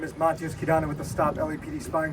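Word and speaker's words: Matyos Kidane: Good afternoon, my name is Matyos Kidana with the Stop LAPD Spying Coalition. That's spelled MATYOS-KIDANE.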